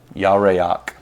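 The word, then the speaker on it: ירח: Was that the yerach or yareach? Yareach. Yeah, yareach. Yeah, so the 3-syllable one.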